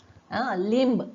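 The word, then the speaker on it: limb: लिंब, लिंब, ब चा उच्चारच होत नाही इथे, लिंब म्हणजेच ब सायलेंट आहे.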